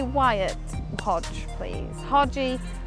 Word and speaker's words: Wyatt: Some people say it right and say Wyatt. So everyone, if you can say Wyatt, Hodge, please. Hodgie, Wyatt, Danni, that's fine.